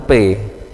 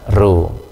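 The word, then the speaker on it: ρ: di minggu-minggu pertama itu mahasiswa kalau disuruh baca rho R itu dibaca P Bukan Ya bukan ini R ini r r nah R besarnya itu p p besar Nah untuk rho kecilnya itu seperti P kecil Ya tapi ini harusnya harus dibaca ro ya Nah untuk menuliskannya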